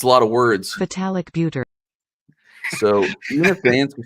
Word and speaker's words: Vitalik Buterin: Vitalik Buterin.